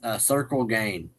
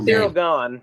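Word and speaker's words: Ciryl Gane: We have Alex Pereira versus this is not how this is spelled, but I'm going to pronounce it like this. Circle Gain.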